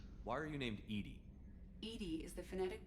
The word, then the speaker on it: EDI: Edie is the phonetic pronunciation Esta of cosa Edie.